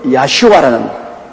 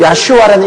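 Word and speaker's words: ישוע: 태어나기 전에 이미 너는 구원자, 백성을 구원할 자란 야슈아라는 그 이름을 주신 것입니다. 그 야슈아라는 이름, 그 발음이 가장 가까운 나라 중에 하나가 우리 한국 사람입니다.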